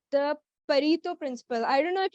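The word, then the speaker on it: Pareto: would like to State a principle called the parito principle I don't know if you guys are like familiar with it or not it's spelled as p-a-r-e-t-o perito principle it stays there like 80 percent of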